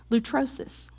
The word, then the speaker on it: lutrosis: Lutrosis.